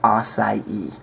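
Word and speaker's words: açaí: nature it happens but this is the correct pronunciation which is assai spelled a AI now this is very very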